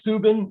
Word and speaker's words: Steuben: If you say Steuben, you're correct. If you say Steuben, you're correct. Honestly, as a German, of course, and I do a fair amount of work in German history.